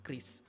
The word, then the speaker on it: QRIS: Namun cara pembacaannya adalah Kris.